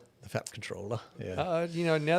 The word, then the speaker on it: comptroller: Um, uh, Skynet has corrected me on my pronunciation of comproller. I prefer to say comproller, even though apparently it's just controller.